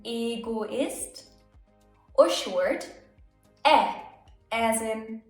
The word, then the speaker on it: Egoist: E can be pronounced long. E as in Egoist.